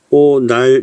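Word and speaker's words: 오ᄂᆞᆯ: 어, 여러분 아라고 발음하면 좀 쉽습니다. 그러니까 얘는 오날도 마암 이렇게 발음하면 되고요. 또 이런 경우 있잖아요. 그러니까 어 여기 오날 이렇게 하면 날 이렇게 발음하면 되잖아요.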